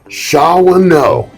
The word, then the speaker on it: Shawanoe: SHAWANOE.